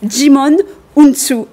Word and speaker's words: Djimon Hounsou: en l'occurrence il s'agit il s'agit je vais prononcer bien son nom djimon hounsou vous certainement vous connaissez et certainement sans son